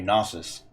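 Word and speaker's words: Knossos: hold on awesome now i took canosis or it might be a silent k it might just be gnosis ah here it is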